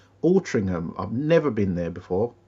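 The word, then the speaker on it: Altrincham: How do you pronounce that? Ultringham.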